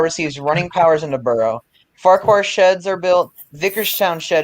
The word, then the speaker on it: Farquhar: Farquhar sheds are built. Vickerstown shed is completely demolished. It's pronounced Farquhar.